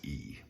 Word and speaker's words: y: All right, you need to know that the letter E, okay, E, which means and, it's actually the letter Y, but it's pronounced E. It's pronounced E.